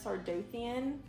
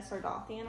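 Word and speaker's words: Sardothien: still saying that, because when I first started this book, I pronounced her name Selena Sardothian, but it's Selena Sardathian, I'm pretty sure.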